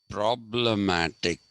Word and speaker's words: problematique: Americans use for problematique, they use this spelling and they pronounce this as problematic. Okay, instead of problematique, they pronounce that as problematic.